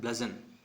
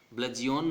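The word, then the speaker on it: bludgeon: इसको प्रोनाउंसिएट करना है ब्लजन। क्या करना है इसको, ब्लजन, ब्लजियोन नहीं, ब्लजन, ठीक है।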